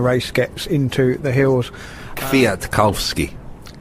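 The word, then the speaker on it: Michał Kwiatkowski: gets into the hills via to calve ski yeah thank you thank you you know a native Polish speaker Richard Moore they're correcting my pronunciation Mark Cavendish everything's been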